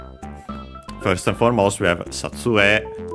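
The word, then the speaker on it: 撮影: First and foremost, we have Satsue. By the way, notice again, E. Most pronounce it now as long E. Some still A.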